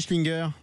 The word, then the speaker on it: Schlienger: Bonjour Stéphanie Schlinger.